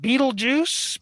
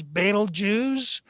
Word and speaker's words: Betelgeuse: betelgeuse actually what people like to call it beetlejuice but the correct pronunciation is betelgeuse careful don't say that don't say it three